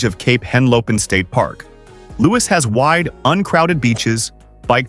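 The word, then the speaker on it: Lewes: Lewis, pronounced Lewis, is one of the oldest towns in the United States.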